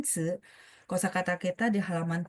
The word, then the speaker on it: 词: 生词 ingat ya, CI bacanya 词, tapi ini nada dua ya, jadi makanya bacanya 词. 生词 i-nya tidak bunyi i tapi bunyi gitu ya.